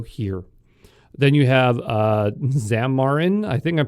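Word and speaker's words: Xamarin: of Visual Studio here then you have uh zamarin I think I'm pronouncing it right and it's a mobile app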